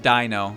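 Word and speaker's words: Deino: So like it's pronounced Dino because like EI is supposed to be like that. But well, when I first saw it, I'm North American, so when I read it as Dino.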